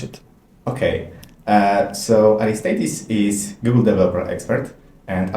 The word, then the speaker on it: Aristeidis: contributor and today in our studio we host aristes hello Dominique I'm very happy to be here okay did I pronounce it correctly Artis yeah you pronounce it